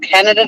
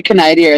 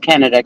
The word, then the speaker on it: Canada: I used to say Canadia as a joke on stage and um we had a really stupid polity a prime minister who actually pronounced Canada Canadia and ruined my one-liner